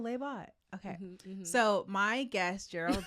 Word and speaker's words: Leibot: pronounce it for me laot like robot oh lebot okay so my guest